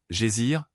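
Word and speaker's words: geyser: Le GER, mot que les Islandais prononcent. gésir et qui signifie fureur s'élève majestueusement à son extrémité.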